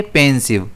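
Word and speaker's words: pensive: इसे हम प्रोनाउंस कैसे करेंगे? पेंसिव। इसमें स्ट्रेस पी पर रहेगा।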